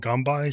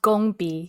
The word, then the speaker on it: gongbi: This is like and and this is something like the gang by is called gambai style. Is that how you say it? It's pronounced gongi.